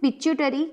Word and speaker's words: pituitary: Remember its pronunciation, it is pituitary gland.